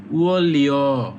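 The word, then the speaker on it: 원료: ২ number হচ্ছে উয়নলিও, উয়লিউ, আপনারা জানেন নিউনের পরে যদি রিউল থাকে তখন নিউনের উচ্চারণ হয় রিউল, তাহলে এটা হবে উয়লিও মানে কাঁচামাল।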